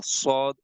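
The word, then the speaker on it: ص: Take this part of the tongue here and start pronouncing with me, sword. Visualize this part with your tongue and start saying with me, sword, please.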